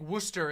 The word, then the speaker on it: Worcester: War Chester Shire sauce Worcester sauce however the you pronounce that stupid do you live in Connecticut or Massachusetts because the Worcester is that's a that's a Massachusetts thing saying that saying that like Wooster is a is a is